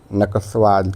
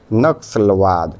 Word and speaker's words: नक्सलवाद: प्रदेश से हुई थी नकसवाद की ऑप्शन ए हो जाएगा नक्सलवाद ठीक है हां अब सही है उच्चारण राष्ट्र निर्माण के मार्ग